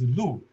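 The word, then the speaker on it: 禄: So stipend, pronounced as lu, is the same as the lu, deer in Chinese.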